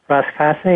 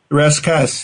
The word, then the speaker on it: rascasse: And then you say the secret is an ugly fish called the rascasse. Is that how you say it? Rascasse, yeah.